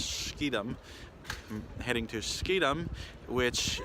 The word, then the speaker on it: Schiedam: And tomorrow I am hopping a train to Schiedam, or is it Schiedam? I can't pronounce it right. It's Schiedam.